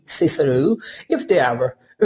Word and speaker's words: Cicero: Making boys say kickaroo at school when, for the rest of their lives they'll say Cicero, if they ever, say it all at all.